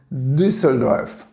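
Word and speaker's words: Düsseldorf: exemplo a cidade de dusseldorf dusseldorf é a forma como se pronuncia em alemão não é na indústria do surf e nem de surf é no surf certo tem uma palavra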